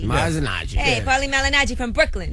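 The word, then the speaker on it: Malignaggi: How you pronounce Paulie's last name? Malinaji. Malinaji.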